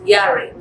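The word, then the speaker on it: yare: the one fearfully in the hebrew fearfully is pronounced uh the what carefully uh is defined as yari from spells as y-a-r-e yary and yara means to respect to revive um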